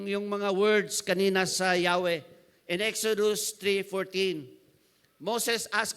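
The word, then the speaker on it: Yahweh: it is ego in Hebrew the word is Yahwe. That is a tetragramon. Yeah. Yahwe walang walang vowel. Oo. Four consonants, four letters. But ang pronunciation is Yahwe.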